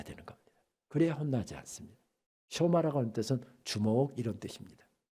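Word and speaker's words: שמע: 쇼마 이스라엘, 이스라엘아 들으라. 이러면서 오늘 설교가 시작됩니다. 흔히 우리가 쉐마 그렇습니다만 정확한 히브리어 발음은 쇼마입니다.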